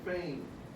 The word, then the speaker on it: feign: So what rhymes with feign? Anybody? Rain, good. Feign rhymes with rain.